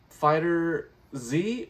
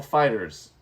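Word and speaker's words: FighterZ: And then we had Dragon Ball Fighter Z or Dragon Ball Fighters. I've heard it pronounced either way, whichever way you want to say it.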